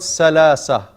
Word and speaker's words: ثلاثة: And it's not ثلاثة. No. Sa is because the tongue is not out of the mouth. Out, it has to be out of the teeth.